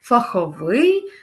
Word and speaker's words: фаховий: наголос на перший склад новий чарівний фаховий наголошуємо Як ви зрозуміли знову ж таки останній склад наступне завдання наступне завдання